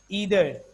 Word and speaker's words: either: No, actually, both are the pronunciation acceptable as per the concept of British and American. So whatsoever you say, both the pronunciation are correct. Either, neither, either, neither. Both the pronunciations are absolutely correct.